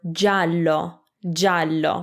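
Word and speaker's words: giallo: it's not geovedi it's gia will make ja so that softens that hard g from before so ga is ga gi a is ja like in the word jallo which means yellow if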